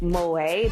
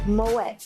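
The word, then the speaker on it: Moët: I learned that Moet, the way I've been pronouncing it, is incorrect. They actually do pronounce the T because it's not technically French. So it's Moet.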